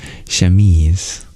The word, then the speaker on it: chemise: remained with us thank you dear danua it's pronounced shames and it's a light undershirt ah I remember